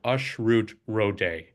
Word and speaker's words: Ashrut Rode: A lot of Indian names the a is pronounced as if it were a U.